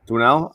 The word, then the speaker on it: Winell: Well, if he's he comes trying to get on, how do you pronounce his last name? Winell? Winell.